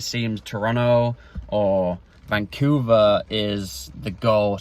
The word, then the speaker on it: Toronto: way that I talk, they don't even pronounce Toronto with the second T. Toronto.